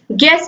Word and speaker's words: guess: फिर गिल्ट है, GUILT, guilt में भी यू का उच्चारण नहीं होता। गाइड में भी GUIDE होता है। गेस में भी GUESS होता है, गेस।